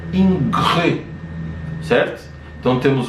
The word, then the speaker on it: Ingres: Então a gente tem obras de dois artistas principais, né, Jacques-Louis David e Jean-Auguste Dominique Ingres. Se escreve inglês, mas se pronuncia Ingres, certo?